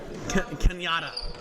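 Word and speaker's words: Cañada: How do you say that? Canidad? Kenyatta. It's really spelled Canada. I don't know why it's spelled like that, but at Canada, at San Mateo, at Chabot.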